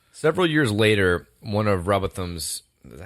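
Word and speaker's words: Rowbotham: I think it's Robot Ham. I gave you shit for it, but it's kind of hard. It sounds like Robot Ham.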